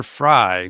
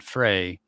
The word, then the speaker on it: Frey: So, it's Amber Fry, not Frey. But I hear Frey all the time.